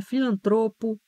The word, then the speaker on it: filantropo: Chama também atenção para estas palavras que elas são paroxítonas e as pessoas às vezes pronunciam de forma equivocada. Então, é filantropo, é curto-circuito, não é circuito, é fluido, não é fluido, é gratuito, não é gratuito, é pudico, não é púdico, é juniores, é látex, látex.